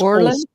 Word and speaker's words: Olsen: Could you pronounce that for me? It's Orland.